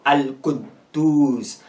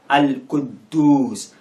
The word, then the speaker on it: Al-Quddus: Here it will sound as if the first D is silent, so Al-Quddus, Al-Quddus, Al-Quddus.